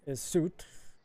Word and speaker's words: Soot: He says, "This here is Soot. That It's pronounced soot. Yeah, like what you get when you craft, like embers from a fire, soot.